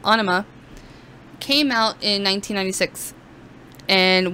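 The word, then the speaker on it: Ænima: peach now onima and i know i mispronounced that earlier i said anemia but anima came out in 1996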